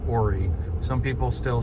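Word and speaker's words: Horry: ori county which is spelled h-o-r-r-y but it's pronounced ori some people still say oh re um but it's not pronounced hoary you'll never hear anybody say that usually ori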